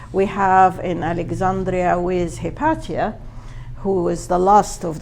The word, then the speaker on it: Hypatia: have in Alexandria with HIPAA who is the last of the new platonist uh The Savage murdering of HIPAA uh or hypatia as others pronounce her uh Egyptian wisdom had